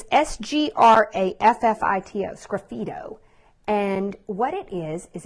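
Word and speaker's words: sgraffito: do a technique called Skippy dough so it's spelled really funny it kind of reminds me of graffiti but it because it looks like graffiti but it's SGR a FF IT Oh scruffy toe and what it is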